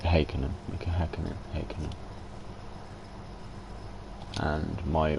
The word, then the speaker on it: Häkkinen: It's like in Formula 1, people say Mika Häkkinen, but I'm pretty sure the Finns pronounce it Häkkinen, Mika Häkkinen, Häkkinen.